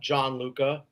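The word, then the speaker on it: Gianluca: I mean, so it's it's uh strides for the number four uh John Luca and it's it's spelled the Italian way, which is g i an luca.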